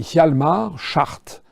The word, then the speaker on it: Hjalmar Schacht: le parcours assez incroyable d'un type qui s'appelait Hjalmar Schacht. Ça s'écrit H-J-A-L-M-A-R, c'est son prénom, et Schacht, c'est S-C-H-A-C-H-T.